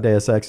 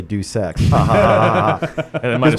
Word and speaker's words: Deus Ex: lesson I learned on DSX is don't think you're being cute and funny by uh calling your name your game DSX and if people mispronounce it they're just going to say do sex what what you discover